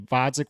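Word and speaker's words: Gvozdyk: The truth of the matter is his only fight at 175 so far has been Vodzik with a silent G.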